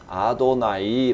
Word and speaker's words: 아도나이: 이것은 지난번에 말씀 드렸다시피 유대인들은 이 글자의 발음대로 일지 않고 신성 4 문자 하나님의 이름이기 때문에 함부로 입으로 발음하지 않고 주님 이라는 뜻으로 아도나이 라고 발음을 합니다 그리고 엘로힘 하나님 이란